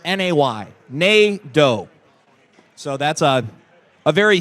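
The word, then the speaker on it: Negaunee: us the note that NATO is pronounced like Plato but just na y n do so that's a a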